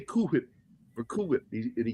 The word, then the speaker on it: Cool Whip: There's only one way to pronounce that. Cool whip.